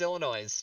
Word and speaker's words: Illinois: so much Illinois yeah Illinois Des Moes Illinois just remember they rhyme that's how you do